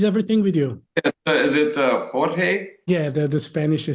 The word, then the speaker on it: Jorge: is it Jorge? Yeah, the Spanish they say Jorge, and Jorge.